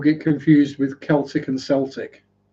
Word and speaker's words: Celtic: Watching people get confused with Celtic and Celtic. If you're referring to the football team from Glasgow, it's Celtic.